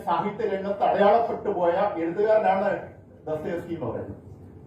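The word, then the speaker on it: Достоевский: ലോക സാഹിത്യത്തെ അത്ഭുതപ്പെടുത്തിക്കൊണ്ട് മനോവിശകലനത്തിലൂടെ ചരിത്രത്തെയും സമൂഹത്തെയും വിശകലനം ചെയ്യാൻ കഴിഞ്ഞ ദസ്തയേവ്സ്കി, ഡോസ്റ്റോവ്സ്കി എന്നൊക്കെ ചിലർ ഉച്ചരിക്കുന്ന ദസ്തയേവ്സ്കിയാണ്. ഡോസ്റ്റോവ്സ്കി എന്ന പേരിലാണ് അദ്ദേഹം GN പണിക്കർ സാർ ഒരു പുസ്തകം എഴുതിയത്. പക്ഷെ പിന്നെ അദ്ദേഹം ദസ്തയേവ്സ്കി എന്നാക്കി മാറ്റി, ഉച്ചാരണം അങ്ങനെയാണെന്ന് തിരിച്ചറിഞ്ഞു.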